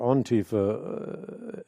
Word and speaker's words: antifa: where it's headed in antifa or on Tifa as some say it's properly pronounced they're there at the